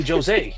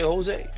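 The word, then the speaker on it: José: They don't say Jo. Hey Jose. No you say Jose. Okay. It's pronounced H.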